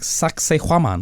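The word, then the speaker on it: Sacsayhuaman: when you say that though like yeah like saks that's like how you say it like suck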